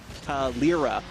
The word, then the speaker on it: Calera: Quick correction, excuse me, for pronunciation. It's Calera.